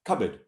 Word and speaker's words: cupboard: You know, there's a big cupboard full of clothes, cupboard. The B-O-A-R-D is an sound, cupboard.